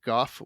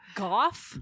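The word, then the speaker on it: Gough: CIA in the 1970s Australia's 21st prime minister Goff whitlam golf golf that's pronounced goth let's go no ask any Aussie it's Goff whitlam it's Goff whitlam I hope I hope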